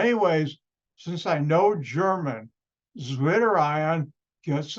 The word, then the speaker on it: Zwitterion: Zwitterion, it's Zwitterion, which is in German.